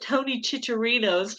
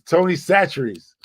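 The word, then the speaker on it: Tony Chachere's: I probably say it wrong, but I call it Tony Chicharito's, but I don't think that's the way you're supposed to say it. That's how what I said. It's Tony Chicharito's. It's Tony Satchery's.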